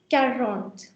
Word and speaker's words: quarante: Make sure you do pronounce, everyone, tront. Now this is 40. 40 is called quarante.